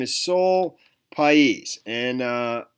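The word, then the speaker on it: Pais: her name is soul PES and uh I believe that's how you pronounce her last name p a i s she's 18 years old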